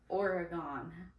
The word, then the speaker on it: Oregon: The state is pronounced Oregon.